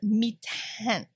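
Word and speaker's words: Mi-Teintes: It's called mitin. And the paper itself, this mitin paper, which I have heard pronounced so many ways in every art store, nobody knows how to pronounce it.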